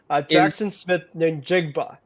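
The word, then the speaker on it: Jaxon Smith-Njigba: Jackson Smith Njigba.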